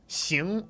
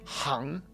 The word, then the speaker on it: 行: Rick, on It's a Word, xíng or háng. This is one of the few characters in the foundation course that has two very common pronunciations that are separate and have separate meanings.